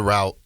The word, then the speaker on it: route: me if they go the route or route depending on how you say it uh of Justin